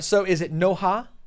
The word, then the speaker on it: Noha: All right, so is it Noha? Yes, it's Noha, and it's spelled N-O-H-A. So it's the way it's spelled. Not Noah.